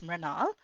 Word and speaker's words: Mrinal: And the way you say it is like saying tree, but with the M. So instead of saying tree, you say Mri and Mrinal.